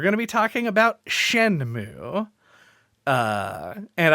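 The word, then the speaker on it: Shenmue: to be talking about shenmu uh and I should learn whether that's pronounced shenmo or Shen mu by the time that we record I'm pretty sure it's just shenmo mu like a cow gotcha uh but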